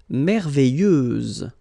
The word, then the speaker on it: merveilleuse: Merveilleuse, so final S, and then, what a surprise, you don't pronounce it.